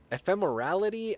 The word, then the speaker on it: ephemerality: Ephemerality? No, it's spelled EPHEMERALITY. It's almost like exactly how it sounds, like if you were to sound it out.